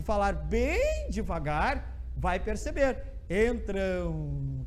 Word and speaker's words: entram: bem devagar vai perceber entram têm um som de 11 no final então vejam esse aqui faz ram é assim entram é um ato com